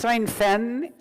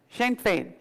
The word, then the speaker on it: Sinn Féin: kind of like the leader of Fenn, that's not how you pronounce it, but in Ireland, the radical wing of the IRA, Sinn Féin. Is that it? Sinn Féin. Sinn Féin. Good.